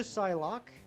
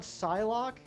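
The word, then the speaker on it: Psylocke: I was pronouncing the silent P. You spelled it 100% correct. You know what's cool about Psylock?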